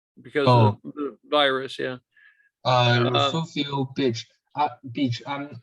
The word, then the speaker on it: Refugio: So then- it's REFUGIO. Just Yeah. like Okay. Refugio. Refugio. Okay, I see. But the G is But- pronounced like an F.